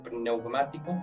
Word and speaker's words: pneumático: si fuera neumático, pero con la P al principio, pneumático, con acento en la A, que os fortalezca, se